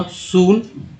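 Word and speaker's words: soon: जैसे SNN सून में double O का उच्चारण ऊ के रूप में हुआ, सून।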